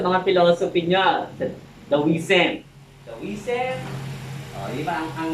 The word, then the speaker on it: Taoism: Taoism, di ba ang spelling nun ganito? Pero ang pagbasa niyan is, you pronounce it as da, kasi da yan sa Chinese. Taoism.